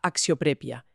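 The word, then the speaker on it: αξιοπρέπεια: Y unas páginas más adelante, en la sección de las emociones y el espíritu, nos topamos con axioprepia, pronunciada axioprepia, que es el término para dignidad.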